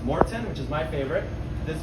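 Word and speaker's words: Maurten: tell us we have many sites we have Martin which is actually pronounced Morton which is my favorite this Y is my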